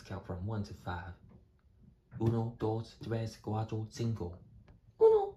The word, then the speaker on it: uno: U no. U no. UNO. Uno is how one is sounded. Dos, tres. Don't forget the vowel pronunciation. The U sounds pronounced ooh. Now try to pronounce uno together. Excelente.